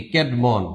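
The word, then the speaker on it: Caedmon: এই ক্যাডমন উচ্চারণটা হবে এরকম।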